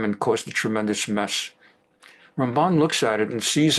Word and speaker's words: Ramban: Now, Ramban is different from Rambam. That's why we emphasize the other syllable.